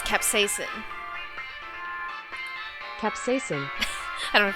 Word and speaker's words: capsaicin: Capsaicin? It is! C18H27NO3. How do you pronounce this? Oh, it's capsaicin.